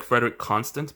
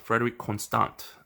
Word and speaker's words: Frederique Constant: It looks like Frederique Constant, but it's actually pronounced Frederique Constant. It's a French name.